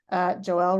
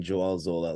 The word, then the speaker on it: Joel: to introduce Joelle Zola Joelle rhyming with Noel I uh um I